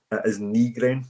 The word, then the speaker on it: Nygren: the one that's saying that I believe the official pronunciation is Nygren. It is Nygren.